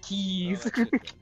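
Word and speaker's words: Keyes: Do you even know how to pronounce his name, David? What? Oh no, yeah, no, it's Keys.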